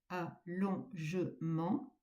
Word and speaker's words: allongement: Bien prononcer le e de allongement. allongement. Cela fait quatre pieds. Si vous dites allongement, allongement, vous n'aurez que trois pieds et votre verre sera bancal.